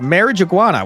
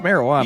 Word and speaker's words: marijuana: this huge badge of marriage iguana we just found in your center console. Oh my god, not marriage iguana. You mean the bag you blatantly put in there yourself? Also, it's pronounced marijuana.